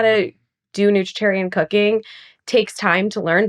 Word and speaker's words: nutritarian: Not not you pronounce that term nutritarian perfectly by the way.